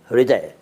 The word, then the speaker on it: हृदय: लोग हृदय कहते हैं उसका सही उच्चारण हृदय मतलब ह बोलना शुरू कीजिए लेकिन हान की साउंड ना हो और हृदय सुनाई पड़े हृदय सुनाई पड़े लेकिन